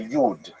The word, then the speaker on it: Yid: So that's a Lithuanian pronunciation, Yi D. Yid, if you uh live in Western Germany, you would say Yud, right, from Yuda, which like the German word for Jew.